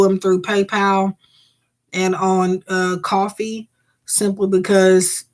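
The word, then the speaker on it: Ko-fi: Yes, I think it's pronounced coffee. But yes, that's how it's spelled. They just spell it like that.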